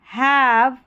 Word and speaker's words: have: हैव, last में हैव के ई है ना, वो साइलेंट है.